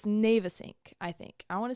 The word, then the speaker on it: Navesink: I want to say Navesink, which I think is an acceptable pronunciation, but then I saw a video from somebody who actually lived in New Jersey, and it's, wait. Go to New Jersey again? It's Navesink.